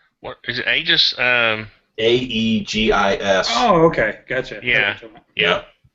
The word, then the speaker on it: aegis: um is it what is it just um a e g i s oh okay gotcha yeah yeah yeah he's he's